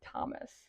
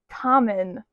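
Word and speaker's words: Thoman: the World by Lauren Thomas. I did not say her name right at all. It is Lauren Tommen.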